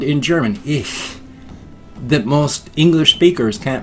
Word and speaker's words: ich: So people just say ich bin. But it's not ish, it's ich.